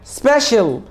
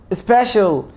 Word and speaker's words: special: بص يا سيدي، اول ما تلاقي حرف السي جه بعديه تو فاولز بنطقوا شين. تو فاولز، ايه هم الفاولز؟ A I O U E. أول ما تلاقي حرف السي جه بعديه حرفين من دول بنطقوا شين، زي كلمة ocean، زي كلمة إيه كمان؟